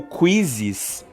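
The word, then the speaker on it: Quizizz: O Quizzes, que se escreve Q-U-I-Z-I-Z-Z, Quizzes, ele também é muito bom e funciona da mesma forma.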